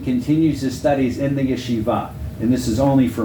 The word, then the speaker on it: yeshiva: studying in Yeshiva well actually it's Yeshiva you know he wrote lion and Hebrew likes that accent the last syllable most of the time which makes it hard when you're bringing it into English but that is a religious